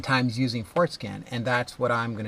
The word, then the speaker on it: Forscan: In one of my videos, I might have mispronounced Forscan, the software, and might have said Forskin, and people have been giving me a hard time with that. So I'm going to try my best to not mispronounce Forscan. It's Forscan.